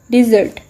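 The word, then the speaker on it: dessert: Next word is डिज़र्ट. इस word को आपने डेजर्ट के साथ मिक्स नहीं करना, जिसका मतलब होता है सहरा. इट्स अ डिज़र्ट.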